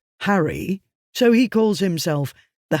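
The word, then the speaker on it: Harray: He lives in an area near the Loch of Harry, spelled A-Y but pronounced Harry, so he calls himself the Harry Potter.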